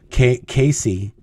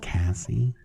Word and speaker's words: Cassie: Casey, I always call her Casey, but her name is Cassie.